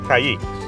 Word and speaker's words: Caiques: Caiques.